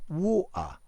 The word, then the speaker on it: water: Yeah, I'm thinking, for example, this famous word water, which often is pronounced water. Yeah, water. The T in the center of the word is completely elided.